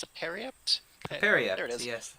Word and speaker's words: periapt: Did we say it's a periapt?